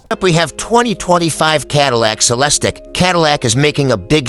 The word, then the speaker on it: Celestiq: We say at least because each Celestiq, pronounced Celestiq, will be built to the owner's exact specifications.